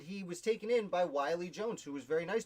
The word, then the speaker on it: Willie: a very and his his first name is not willie it's pronounced wiley i'm just seeing i